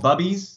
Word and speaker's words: Bubbies: stuff like yogurt you said a company called bubbies is that it's pronounced bubbies is for pickles and sauerkraut and it's you